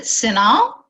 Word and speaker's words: CINAHL: Well, I pronounce it CINAHL.